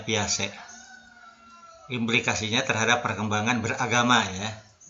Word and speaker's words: Piaget: Ditulisnya Piaget ya, tapi dibacanya Piaget.